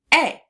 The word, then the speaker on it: a: So, we hear the long a sound in the word a. But we also hear the schwa sound depending on someone how someone says it.